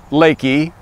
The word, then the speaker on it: LEKI: a little bit about Lakey the name is pronounced Lakey which goes from the founder klouse lenhard that's